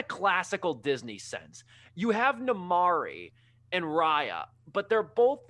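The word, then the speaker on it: Namaari: no no namari okay namari that's her name i remember am i saying it right no you are you are i literally literally when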